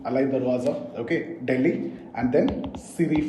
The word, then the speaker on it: Alai Darwaza: So Alai Darwaza, guys, name, the pronunciation, Alai Darwaza.